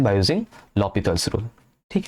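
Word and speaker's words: L'Hôpital: एंड उसके लिए एल हॉस्पिटल नहीं है, इसका एक्चुअल प्रोनाउंसिएशन होता है लॉपिथल रूल इज देयर.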